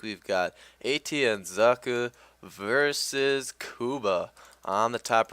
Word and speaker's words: Socke: gonna get a pretty standard play here from Socke. And yes, for those of you wondering, that is how you pronounce his name. It's not Sock. His name does mean sock. Socke actually means sock in German, in case you